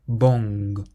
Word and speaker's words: bon: Imagine it's bong, but don't say the G.